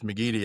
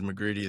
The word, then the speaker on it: McGeady: It's McGeady. Everybody says McGreedy. They put an R in it, so Yeah, I yeah.